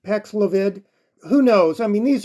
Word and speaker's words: Paxlovid: Well, it's pronounced Paxlovid.